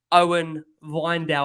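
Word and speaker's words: Owen Wijndal: put you his name owen weindel i think it's pronounced is he a player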